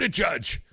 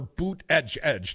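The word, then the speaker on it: Buttigieg: at 8% peat food a judge or boot edge edge depending on your pronunciation preference you know his husband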